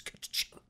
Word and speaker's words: Catachan: already, like, excuse me, the pronunciation of Catachan is not a Chan, like you're talking about anime, it's Catachan.